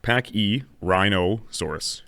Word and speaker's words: Pachyrhinosaurus: Now, its name is pronounced Pachyrhinosaurus.